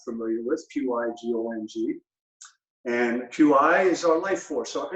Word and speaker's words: Qi: with Pyg oMG and Qi is our life force or energy so when we say energy is spelled Qi not CH I that has a different meaning pronounced the same so it's a scrabble